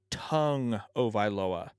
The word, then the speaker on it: Tagovailoa: alabama but i believe the official pronunciation of tua's last name is tua tung oviloa like your tongue in your mouth to a tongue of iloa from what i understand either way i like